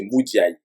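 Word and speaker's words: Mudiay: À part certaines fois, Emmanuel Moudier, on va prononcer comme les Américains. Moudier, on sait bien que c'est Moudiaï. Hein?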